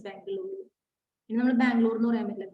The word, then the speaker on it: Bengaluru: Bangalore, not Bangalore, Bengaluru. It's pronounced as Bengaluru.